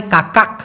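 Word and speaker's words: kakak: আবার মালয়েশিয়ান ভাষায় এই কাকা, কে এ কে এ কে উচ্চারণটা হয় কাকাক, তাই তো? কিন্তু কটাকে ওরা যেহেতু ছোট করে উচ্চারণ করে সেই জন্য উচ্চারণ হবে কাকা।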